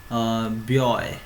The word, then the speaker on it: buoy: इसका जो प्रोनाउंस है थोड़ा सा ब्यॉय ऐसा टाइप का होता है, तो ये चीज़ आपको याद रखना है।